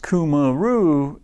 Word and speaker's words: Cumaru: Pronounced Cumaru, is a premium tropical hardwood used for decking, siding, docks, boardwalks, fencing, pergolas, railing, and cladding.